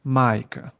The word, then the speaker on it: majka: Then you have Then you have long climbing accent, which is mleko, and long down um, accent, which is majka.